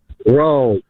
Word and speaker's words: Rome: Rome. Your name is Rome. Yeah, like Jerome.